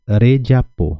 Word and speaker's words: rejapô: Muitas pessoas vão querer conjugar rejapô e não é re. Aqui vai ser rejapô, re. Esse R é o R comum, o R simples, né? Então seria rejapô.